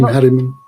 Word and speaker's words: Haramein: And then watching some like Nassim Haramein, or whatever is that, did I pronounce his name right? Yes, Nassim Haramein.